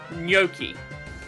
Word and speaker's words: gnocchi: Gnocchi. Like, Gnocchi? Gnocchi. They do pronounce the G. Gnocchi.